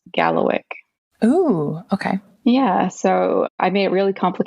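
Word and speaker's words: Kalawikk: a w i k k and it is pronounced Gallo o okay yeah so I made it really complicated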